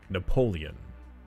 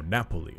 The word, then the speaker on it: Napoli: Napoleon. Got it. No, Napoli.